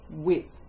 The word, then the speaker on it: whip: He was holding a whip, because someone has to have a whip in a circus. Whip. W, silent H, I, P.